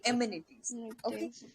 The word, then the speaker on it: amenities: be these cases and amenities its pronunciation was like enemies it would be amenities you took a moment